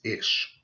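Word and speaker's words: אִישׁ: You pronounce this Ish.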